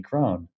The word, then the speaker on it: Krohn: But everyone, seemingly half the people that I meet for the first time want my name to rhyme. John Krohn.